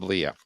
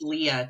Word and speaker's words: Lia: It is Leah. Okay. Leah. It's pronounced Leah, too. People get that wrong a lot.